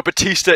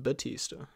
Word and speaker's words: Bautista: with a u well it's spelled bautista but i think it's pronounced batista we should we should